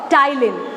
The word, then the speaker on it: ptyalin: as salivary amylase or ptyalin. P-T-Y-A-L-I-N. P is silent.